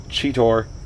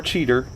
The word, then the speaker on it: Cheetor: it uh and it features cheetor or cheater depending I don't think he knows